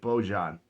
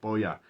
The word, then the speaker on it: Bojan: We have Bojan Bogdanovic, but it's like Bojan, like a J, but it's pronounced Bojan.